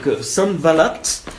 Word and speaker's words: Sanballat: Je vais le prononcer si vous voulez donc en hébreu. Donc Sanballat.